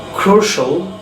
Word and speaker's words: crucial: আমরা আজকে থেকে শিয়াল যেখানে আমরা বলতাম, that means if any word ends with CIAL or TIAL we will pronounce shall, shall, like commercial, crucial, আরেকটা very important word social বলি আমরা, social, presidential.